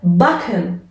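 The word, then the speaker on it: backen: ترکیب بعدی سه و کا هستش که وقتی در کنار هم قرار میگیره به صورت که عادی تلفظ میشه. مثلا مثل باکن.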